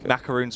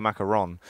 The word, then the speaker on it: macaron: no a souffle souffle macaroons are also very hard yeah they made you know it's actually a macaron macaroon is the it's the wrong pronunciation that's not your thing